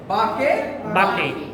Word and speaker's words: বাঁকে: যেমন আমরা বলি ছোটকাল থেকে বলতে আমাদের ছোট নদী চলে বাঁকে বাঁকে, তো আসলে কি বাঁকে বাঁকে হবে না। কি হবে? বাঁকে বাঁকে।